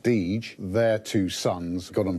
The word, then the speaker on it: Deger: Deger's, or now it's pronounced Deege, their two sons got on very well, so they actually started up on their own.